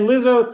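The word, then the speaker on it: Lizzo: It rhymes with Lizzy. Is is Wait. Yeah. It's okay. And she's got her sister Zoe. And Lizo thinks that it actually is about damn time.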